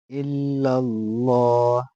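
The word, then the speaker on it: إلا الله: লা ইলাহা লা ইলাহা এখান শিখ ইল্লাল্লাহ ইল্লাল্লাহ লাম খারলা এখানে কিন্তু এক কালিফ টানা লাগবে হু এন্ টানা যাবে না। আর লামটা কিন্তু পুর হবে মোটা হবে। ইল্লাল্লাহ। ইল্লাল্লাহ কইলে হবে না। কিন্তু ভুল হবে।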